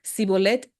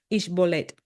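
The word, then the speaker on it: shibboleth: Miles de efraimitas murieron en los vados del Jordán al ser identificados por el modo de pronunciar la contraseña, pues decían Sibolet en vez de Ishbolet.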